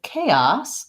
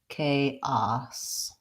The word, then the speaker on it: chaos: a like this so I would say K and then the a s in chaos sounds like ah-ah-ah and an S and it has first syllable stress so it's long short chaos but in bias bias